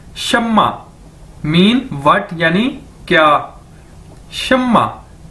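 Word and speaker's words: 什么: ये Chinese word है और इसको प्रोनाउंस कैसे करेंगे? इसको बोलेंगे कैसे? शम्मा। जिस तरह के एक नाम भी है शम्मा।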